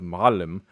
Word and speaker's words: معلم: One is, so you have معلم with the stress on the first syllable, and then معلمين, and then he has معلمة, معلمة, and then معلمات.